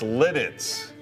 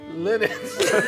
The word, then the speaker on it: Lititz: It's spelled. No, it's Lititz. Lititz.